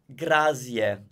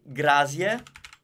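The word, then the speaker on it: grazie: say it Grazia Grazia you tell them Z never sound because what sounds in Italian it's this s ok so if you say grass yeah I think that grass yeah which is not a word ok so be careful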